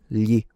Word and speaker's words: gli: gli And that's the standard on how to pronounce it.